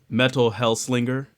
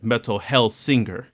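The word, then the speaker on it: Metal: Hellsinger: Metal Hellslinger. Well, my bad, and I said it wrong. Metal Hellsinger.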